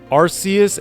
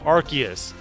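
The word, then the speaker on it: Arceus: don't know oh the pronunciation was retcon arus had a soft sea but it sounded like ARS so they changed it to a hard sea to archus that makes sense that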